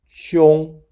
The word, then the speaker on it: 兄: Older brother, 兄, sounds quite similar to the name of Sean Connery, who once played the role of James Bond. We apply Sean Connery digging in the image to assist us in remembering the pronunciation of 兄.